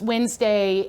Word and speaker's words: Wednesday: tell you that um occasionally i have teachers who pronounce wednesday almost like like you're fully pronouncing pronouncing the the middle syllables here most of the